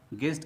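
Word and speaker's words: guest: दोस्तों, यहाँ भी ध्यान देने वाली बात यह है कि साइलेंट लेटर यू जी के बाद आया है, तो यहाँ भी हम लोग जी के बाद यू लिख लेते हैं।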